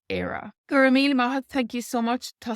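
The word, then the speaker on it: Éire: just to say Ireland on its own it's era mean thank you so much I hope that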